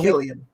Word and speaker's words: Cillian: So Killian.